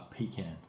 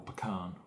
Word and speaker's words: pecan: needs 22 skeins of weak style Works uh pecan or pecan depending on how you pronounce it pecan and 11 skeins of angel hair fives oh no it's 11.